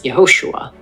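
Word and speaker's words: יְהוֹשֻׁעַ: When this vowel appears at the beginning of words, it makes a short E sound, as in men, hence Yehoshua.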